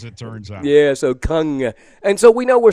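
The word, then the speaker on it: Kang: what is it Gung Gung Gung the K is silent well the a is a u okay as it turns out yeah so Kung and so we know we're solid in the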